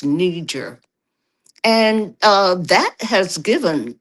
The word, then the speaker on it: Niger: you know, so brother Mali uh Lin Mali followed him and then um and nijer some people call it niger but I think it's pronounced nijer and uh that has